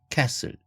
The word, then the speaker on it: castle: 그 6번째, 7번째 다 마찬가지로 castle이 아니라 castle, 성이라는 뜻이고 muscle이 아니라 muscle, 근육, apostle 이런 식으로 스트을이라는 자음이 3개가 한 단어 속에 받침으로 연결되고 있는데 가운데 C2에 해당되는 발음이 트, 크 이런 파열음이죠. 그렇게 되면 이 파열음이 생략된다. C2가 생략된다.